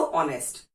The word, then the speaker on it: honest: HONEST, लेकिन हॉनेस्ट तो हमने बोला ही नहीं, सो ऑनेस्ट।